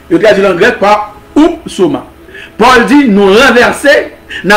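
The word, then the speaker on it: ὕψωμα: mot grec utilisé ici pour traduire auteur est oupsoma. Oupsoma. Lorsque Paul dit, nous renversons les raisonnements. Et tout auteur, auteur ici se traduit par oupsoma. Comment oupsoma s'écrit? Ou qu'a dit tout oupsoma? H-U. P-S-O-M-A. H-U-P-S-O-M-A. Upsoma et signifie une chose élevée.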